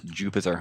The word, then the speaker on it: Jupiter: I'm told that his name pronounces as Jupiter and not to bother pronouncing it any other way.